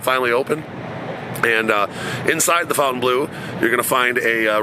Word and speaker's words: Fontainebleau: Some people pronounce it one way, I pronounce it Fountain Blue.